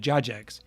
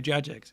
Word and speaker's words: Jagex: I'm still going to say Jagex cuz when I was a kid and we played Runescape on the school computers when we weren't supposed to, we all said Jax. I'm saying it right. Good. Blow high. Yeah. But when I was a kid, we all could have said Jax. And so I have just kept it that way and I refused to